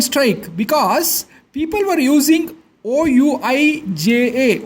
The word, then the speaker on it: Ouija: Okay, but currently the group of ghosts was on strike because people were using OUIJA, O is silent, pronounced Ouija boards to summon ghosts and ask questions.